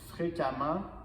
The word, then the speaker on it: fréquemment: devenir ammen ent donc fréquemment constamment donc rappelez-vous ent devient e M m ent et on prononce le E comme A n t devient AMM